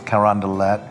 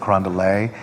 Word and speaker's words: Carondelet: well we're going to mispronounce everything is you know Charters Carondelet you know instead of Carondelet all the Doffing all